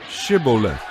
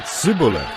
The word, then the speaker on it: Shibboleth: they would tell him to say Shibboleth. If he was from Ephraim, he would say Sibboleth, because people from Ephraim cannot pronounce the word correctly.